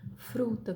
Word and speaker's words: fruta: Na palavra fruta, por exemplo, ó, esse F aí é o TEP, tá certo?